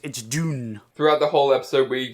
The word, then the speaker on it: Dune: So you know how Dune is pronounced Dune? I thought it was pronounced June. No. It's actually pronounced Dune. Oh. Isn't that right, Jack? Yeah, so it's pronounced Dune. Dune. But I like the way you say June better. It sounds better. June. So yeah, June. Not June. Not like the month of the year.